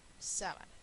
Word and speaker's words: sábana: vocal Entonces es llana sábana es estrujula y por eso lleva t Ah y quiero